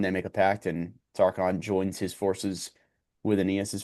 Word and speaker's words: Tarchon: He visits and makes a pact with King, I think it's Tarchon, is how you say it, to join him in the war with the Rutulians.